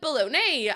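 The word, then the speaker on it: bologna: Um, if we're doing pet peeves, the word is it baloney and it's spelled B O L O N. Wait, B O L O G N A.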